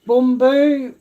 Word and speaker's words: bumbu: asian um supermarket um rajcik boomboo that's how you say it in indonesian um bumbu which is powder seasoning